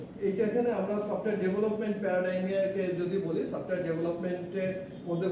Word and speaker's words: paradigm: ইন the software engineering this প্যারাডিগাম is stand, প্যারাডাইম stand, and মানে উচ্চারণটা DIGM, তো প্যারাডাইম। And in the software engineering,